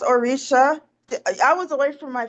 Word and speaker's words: Orisha: Oh yeah, it's my Orissa. Renee, can you tell me if I'm saying that word properly since you are familiar with that deity? It's pronounced Orisha.